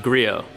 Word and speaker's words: Griot: videos and stuff and I can never tell if like the presenters are like like pronouncing the T in the name I'm like what's going